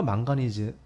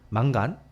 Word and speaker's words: 망가니즈: 그 근처에 철과 망가니즈 이런 망간 옛날 발음은 망간이지만 망간이라고 하는데 요새는 망가니즈라고 하죠.